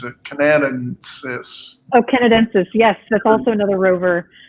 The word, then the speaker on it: Canadensis: I can never pronounce it. Canadensis. Oh, Canadensis.